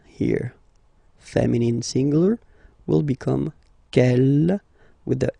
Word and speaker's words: quelle: Quel here, feminine singular, will become quelle with the S, feminine plural. And the good news is that you will pronounce them the same way. Alright, so quel, quel, quel, and quel. Okay, remember that in some